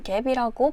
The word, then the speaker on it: GAAP: IFRS는 International Finance Reporting Standards, 즉 국제적으로 동일한 회계 원칙에 따른 보고를 위한 기준이라는 것인데 원래 우리가 익숙한 갭이라고 발음하는 GAAP, 즉 Generally Accepted Accounting Principle이 있었습니다.